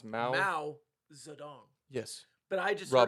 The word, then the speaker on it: Mao Zedong: That's how it's pronounced. Mao Zedong.